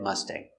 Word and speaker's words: Mustang: So, remember with the word Mustang, we have a g. Ag like angry or sang. Pronunciation: Mustang. Let's take a closer look at the pronunciation. Pronunciation. Mustang. M. Uh. Uh. Relax. Uh. Uh-uh. Closed sound. Uh-huh. M-m sust. A. Must. Must. Is that long a sound? Mustang. Mustang. This sound is in your nose.